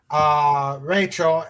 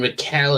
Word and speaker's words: Raquel: You mean Raquel SSG, right? Yeah. Right. Yeah, I mispronounced it.